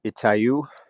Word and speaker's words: Itaú: Yeah, I think the way you pronounce it is Itaú.